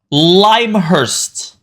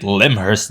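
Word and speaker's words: Lymhurst: a bomb on us limehurst is the pronunciation of that green faction so screw everyone who has been calling it limur dude it's called limehurst that's the bigest really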